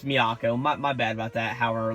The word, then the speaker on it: Miyako: and how um oh I just keep saying me Chico it's Miyako my bad about that